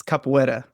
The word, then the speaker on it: capoeira: Yeah, it's capoeira. Okay. I even looked it up and it tried to pronounce it, and I was like, man, I'm